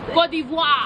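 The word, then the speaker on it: Côte d'Ivoire: Cote d'Ivoire.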